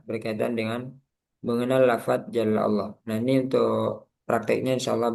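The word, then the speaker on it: الله: Nah, contohnya di sini Allahu itu kan a fathah. Nah, sebelumnya fathah berarti lamnya di sini tebal sehingga bacanya Allah. Jangan Allah. Allahu tebalkan pangkal lidahnya naik.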